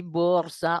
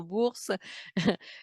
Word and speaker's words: bourse: me critique parce que je dis bourse au lieu de dire avec un Z au lieu de S.